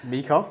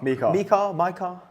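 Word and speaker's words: MiCAR: Mika mikar. I everyone pronounces differently. I mean I have Dutch colleagues who pronounce it slightly differently. I I can tell you what I I I pronounced it mika.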